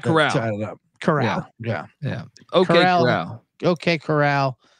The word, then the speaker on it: Corral: Corral yeah yeah okay Corral whatever Golden Corral e ECU graduat start